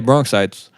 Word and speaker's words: Bronxites: Yeah, That's how you say it? Straight up, yeah, Bronxites.